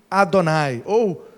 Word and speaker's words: Adonai: ninguém pode contrariá-lo daí Adonai lá no hebraico bem primitivo e donar seria uma pronúncia mais aproximada Oi e aí